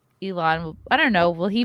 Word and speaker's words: Elon: is the key line elon is going to go for a controlling stake why do you say his name wrong i don't know i know you sound like you're saying ellen because elon i don't know i